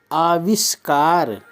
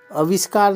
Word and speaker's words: आविष्कार: मात्रा फिर होता है आविष्कार आविष्कार अविष्कार नहीं आविष्कार आविष कार फिर होता है